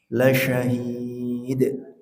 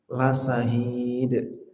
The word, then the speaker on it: syahid: Yang begini benar apa salah? La sahid. Ya. La sahid. Gimana? Salah ya. Ya, ini ustadznya disalahkan sama muridnya. Iya, itu contoh yang salah ya, contoh yang salah. Harusnya la syahid.